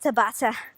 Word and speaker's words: Tabata: or ta ba tha I think it's like Tabitha but pronounced Tabata so first one knees